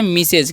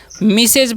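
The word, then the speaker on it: Mrs: है ध्यान से समझिए एम आर एस तो इसे हम लोग क्या पढ़ते हैं इसे हम लोग पढ़ते हैं मिसेज क्या पढ़ते हैं जी मिसेज पढ़ते हैं ठीक है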